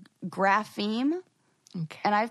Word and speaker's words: grapheme: tiktok that i've been pronouncing it wrong it's grapheme okay and i'm pronouncing it like graphame i think yes that's true grapheme that's another